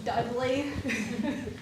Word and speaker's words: Dudley: Apparently, when I pronounce this word, it sounds like I'm saying deadly. It's Dudley.